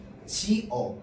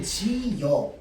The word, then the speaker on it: 지어: 지어도 표준 발음이고 지여도 표준 발음이라고 했습니다.